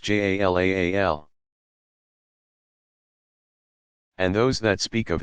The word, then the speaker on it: Jalal: God's names include about equally those that suggest divine power and majesty, Jalal, pronounced Jalaal, and those that speak of his beauty and infinite attractiveness, Jamal, pronounced Jamal.